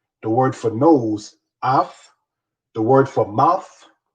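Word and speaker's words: אף: The word for nose is the word af. Af is how you say nose in Hebrew.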